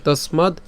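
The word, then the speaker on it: তস্মাদ্: এগুলো যদিও ভেঙেছি কিন্তু উচ্চারণ করার সময় একসাথে উচ্চারণ করবেন তসমাদ ইউয়স ঠিক আছে তসমাদ ইউস এরপরে এখানে কি আছে ব আছে এটা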